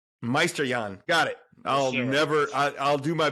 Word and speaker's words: Meisterjahn: Meisterjahn. It's German, man. Most struggle with the pronunciation. But I'm German and ancestry, but my name's not. It's easier than that. But say that again. So Meisterjahn.